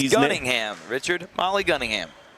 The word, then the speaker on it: Gunningham: message from Brett Taylor to if I do mispronounce these. Gunningham. Richard Molly Gunningham. Gunningham. I said Gunningham. I thought he said Cunningham.